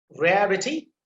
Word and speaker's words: rarity: Rarity. So you can see the y, it ends with y, so you have to put emphasis on the first syllable.